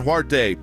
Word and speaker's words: Huarte: oldest living Heisman Trophy winner Roger Staubach John huarte Pete Pete Dawkins or Mike Garrett I I John heward is the the way you pronounce it I'm saying okay say those one